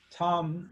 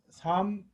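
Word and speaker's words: 參: 개종이 중리거 증자시 자왈 선왕유 지덕요도 이순 천하 민용 화목 상하무원 여지지호 증자피석왈 참 불감 하족이 불민. 참 불민 이 사람으로 읽을 때는 증참이라고 읽을 수도 있는데 그냥 삼이라고 하세요. 삼 하족이 지지 자왈 부효 덕지본야 효지소 곡생야 교지 소유생야.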